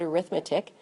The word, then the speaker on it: arithmetic: was an arithmetic sequence I know that looks like the word arithmetic but for some reason when it's an adjective we pronounce it arithmetic an arithmetic sequence is